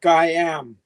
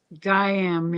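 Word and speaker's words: Gaiam: but the a in a before the I is silent so it's Guam Guam yeah gam containers it's I was wondering how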